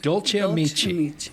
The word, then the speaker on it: Dolce Amici: You're a co-owner of Dolce Amici. Correct. Did I pronounce that right?